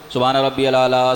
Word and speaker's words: سبحان ربی الاعلیٰ: کا تلفظ روزانہ ہر جمعے بتاتا ہوں میں، تلفظ لوگوں کے خراب ہیں، سبحان ربی الاعلیٰ، سبحان ربی الاعلیٰ، یہ نہیں، سبحان ربی الاعلیٰ،